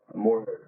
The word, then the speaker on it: Moorhead: Yeah, Moorhead.